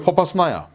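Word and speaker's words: Попасна: 그래서 이 도하작전을 지금도 계속하고 있고, 지금 이 세베로도네츠크 이 지역에서도 치고 나가고 있고, 그리고 포파스나야, 예, 이 포파스나라고 읽기도 하고 포파나야라고 하기도 하고 포파스나야라기도 하는데, 이 지역을 지금 원래 24 기계화단이 지키다가 러시아군에게 내줘버렸죠.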